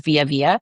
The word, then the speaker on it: Vija: So my name is spelled really weird. It's VIJA, which is, I know, weird, but it's pronounced Via.